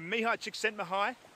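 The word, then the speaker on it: Mihaly Csikszentmihalyi: to understand mindfulness there Mihai chicks send the hi and that is not pronounced anything like it is spelt which is confusing and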